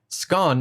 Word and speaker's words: scone: to pronounce it scone to rhyme with gone or stone.